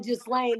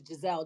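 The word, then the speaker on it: Ghislaine: about uh just Lane oh just Lane that's how you say her name I thought it was Gisele just lame Maxwell daughter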